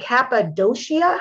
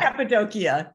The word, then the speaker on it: Cappadocia: the name of that country the sufis and kappa doshia how do you say that cappadocia good but you did actually very well most